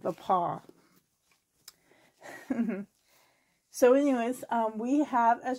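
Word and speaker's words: Le Pas: If you, and the paw is spelled T-H-E, the, and then paw, P-A-S. My community is originally French.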